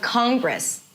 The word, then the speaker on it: Congress: And it's not important, so it's pronounced quickly. Of Congress is women, right?